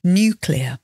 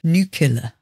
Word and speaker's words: nuclear: CLE e a r nuclear that's the British English pronunciation of course nuclear in US pronunciation it's more like nuclear I can't even say